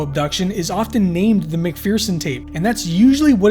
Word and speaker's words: McPherson: named the mcferson and because mcferson has the pronunciation of fear within it once the film got